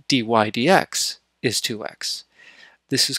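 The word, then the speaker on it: dy/dx: the derivative, which is dy over dx, or dy dx, as we say. So we would normally pronounce this as dy d x, dy dx.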